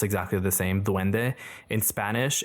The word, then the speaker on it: dwende: It looks like it's pronounced exactly the same dwende. In Spanish it's d u e n d e and in the Philippines they spell it d w e n d e but it's the same pronunciation.